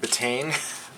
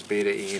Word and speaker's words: betaine: this is called betaine spelled if i was pronouncing it they call it betaine betaine but it's actually the the correct pronunciation is beta-e and i don't really know that what the